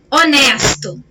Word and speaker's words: honest: derivada do latim e nós não pronunciamos a letra h então eu não posso